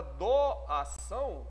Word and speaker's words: doação: Na palavra doação, olha a pronúncia. Doação. Você fala doação. Fala doação. Então eu tenho, de novo, o hiato entre o A e o O.